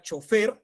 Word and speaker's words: chofer: palabra es la palabra chofer colegas vamos participando por faor nos dejamos al lado los miedos grave chofer es grave Es una palabra grave muy bien pero fíjense